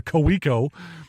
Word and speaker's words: Kaweco: But what I'm currently rocking is the Kaweco, and if you're an unfamiliar to the company, you would pronounce it in America Kaweco, but the Kaweco AL Sport pen.